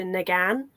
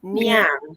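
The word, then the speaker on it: Ngan: to be like Natasha Negan and then I realized from a friend she was like oh no when it's NG you pronounce it near so it's actually Natasha meow not Negan so I'm like right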